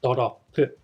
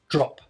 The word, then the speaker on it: drop: Makes it sound like there are three beats, do, ro, or do, ro, pu. As English is just one syllable, drop. Okay? There's no extra sound here, drop.